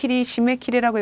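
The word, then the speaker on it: 締め切り: 사크힌노 시메키리라고 읽어주시고요.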